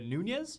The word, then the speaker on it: Nunes: like I'm learning cuz you say it like was some crazy Italian no that's not one of the that's not one of the Portuguese names that I assume was Italian although now I know